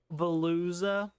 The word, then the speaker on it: Veluza: VEL UZA. Veluza. Oh, I thought you said B as in boy. No, it's V as in vacuum.